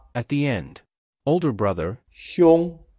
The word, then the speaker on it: 兄: Older brother, 兄, sounds quite similar to the name of Sean Connery, who once played the role of James Bond. We apply Sean Connery digging in the image to assist us in remembering the pronunciation of 兄.